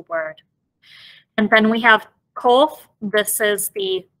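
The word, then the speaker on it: קוף: And then we have kof. This is the k sound. Very similar to the sound that the kaf makes, but it's pronounced a little bit farther back in the throat.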